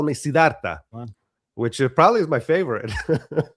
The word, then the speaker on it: Siddharth: So I think the American pronunciation is Siddhartha. But it's not an American name. It's an Indian name, and Indian people would say Siddharth, which is it's intense for like an American to say.